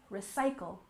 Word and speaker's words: recycle: have recycle you'll remember we stress the second syllable recycle recycle for example please recycle